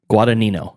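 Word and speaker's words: Guadagnino: guad guo gu guito the second g is silent guad guadino guadino okay yeah okay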